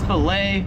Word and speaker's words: fillet: 19 is fillet, or it's fillet if you're American. Here in Australia, they pronounce it as fillet, so it is a fillet of fish or a fillet of fish.